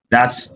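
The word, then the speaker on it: ث: So in this one, it is pronounced thing. That's what we have, like in the case of Tha in Arabic language, right?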